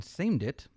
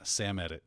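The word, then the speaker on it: Samedit: the vulnerability named baron seemed it nicely done impacts most linux distributions today did i pronounce that wrong yes aimed it yeah i would go with uh sam edit sam ed oh see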